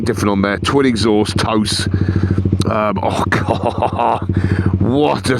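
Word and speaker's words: TOCE: It's spelled T-O-C-E. I think it's toast, they pronounce it. Sounds like toast without the t.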